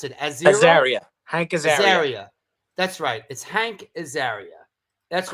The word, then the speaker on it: Azaria: How do you pronounce it? Azaria.